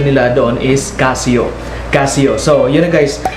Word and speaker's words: Casio: international uh country of the top nominee or pronunciation in la donne is casio casio so you know guys before i begin